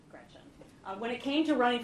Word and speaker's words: Gretch: Don't let people call you Gretch, because it rhymes with wretch.